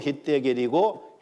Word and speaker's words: 히데겔: 자, 에덴 동산에 4개 강이 흘렀다 그랬는데 여기 셋째 강이요, 히데겔인데 히브리어로 히데겔이고 헬라식 발음으로 하면 티그리스 강이에요.